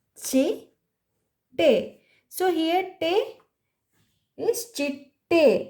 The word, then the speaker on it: ಚಿಟ್ಟೆ: Butterfly is chitte. Chitte. So here te is chitte. We are stressing te and pronouncing so sajati ottakshara t a.